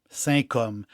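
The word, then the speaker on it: Saint-Cosme: o s m e si ça se prononce comme sain hom j'ai un po j'ai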